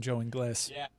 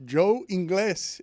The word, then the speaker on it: Ingles: dad calls him Joe Ingles. Yeah, that's the way it should be pronounced. In Spanish or in English. Joe Ingles is exactly what it should be.